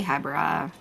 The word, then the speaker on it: Hebra: yeah that's the one if you're going by the Japanese pronunciation okay well then it's probably Habra me and my you